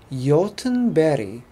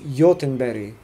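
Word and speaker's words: Göteborg: it a bit but the G is a Y and the G at the end is another y so it's like Jochen Betty but when a Swede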